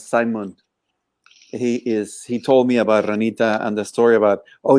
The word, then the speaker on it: Ranita: Ranita.